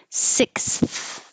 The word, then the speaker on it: sixth: Sixth. There's a lot of airflow for this one. If you were just going to say six, it would sound like si.